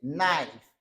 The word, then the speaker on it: knife: 30e là c'est knife. Nous ne pas prononcer K, ok? Pas dire knife, ok? C'est knife. C'est comme ça dit nine, ok?